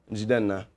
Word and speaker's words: Jidenna: How do you pronounce it in Ebu? Jena.